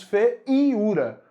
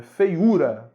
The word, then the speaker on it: feiura: semivogal porque é fraco Você não diz fé em ura se ele se feiura né e é bastante forte né feiura feiura é o mais forte na verdade da palavra né a sílaba tônica então o que que